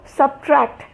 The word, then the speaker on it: subtract: So subtract, I subtracted this from this, so the T is very distinct.